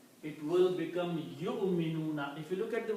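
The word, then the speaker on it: يُؤْمِنُونَ: Yu'minuna. We should not pronounce that way. It should be ya will combine with the hamza only. Waw is not to be pronounced. So it is yu'minuna.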